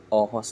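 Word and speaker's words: Aarhus: sa city ng arh ang spelling ng City niya ay a r h us RH pero oos daw ang bigkas n dito sa kanila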